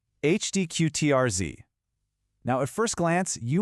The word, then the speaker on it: Hdqtrz: Yep, it's pronounced Hdqtrz.